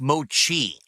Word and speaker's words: mochi: It's pronounced mochi.